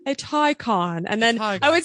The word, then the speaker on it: Taycan: around and say so is it a tyon or a take it's a tyon i phonetically spelled it in my I my notes it's a tyon but I say take por should just go